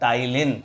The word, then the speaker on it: टाइलिन: होने वाला salivary amylase, जिसका दूसरा नाम टाइलिन भी है, इसमें पी साइलेंट होता है।